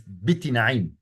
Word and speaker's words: Bittinaʿim: but we suspect that it should be read as Biti Na'im. So bit, not bat, and Na'im.